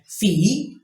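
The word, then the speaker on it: fille: leave means book and feely means girl yes you heard correctly the double L in between two vowels in French are most often not pronounced here sufficient for you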